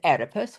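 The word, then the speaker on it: Oedipus: It starts with an O, but it's pronounced edipus.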